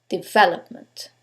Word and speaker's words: development: the last syllable development in this case is the second syllable development now you couldn't know